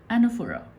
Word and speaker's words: anaphora: is slated for a-- but you pronounces that anna foo rah anaphora okay now this is